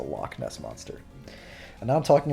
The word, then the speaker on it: Loch Ness: is that you know in Scottish there's lock which is spelled launch but it's not the lochiness monsters the Loch Ness Monster and now I'm